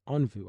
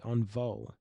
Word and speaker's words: Onvo: Actually, I've been told I shouldn't say Onvu. I was told I should say Onvo. I like saying Onvu, but we're going to stick to Onvo if that's the correct way to say it.